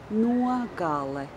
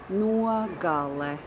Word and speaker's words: nogale: So anyway, the last word was nogale. It's a three-syllable word. Nogale. Nogale. The last syllable is le.